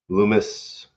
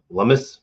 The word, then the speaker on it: Lummis: Loomis rhyme Lummis. So then I guess it's Lummis, not Loomis. Lummis rhymes with hummus.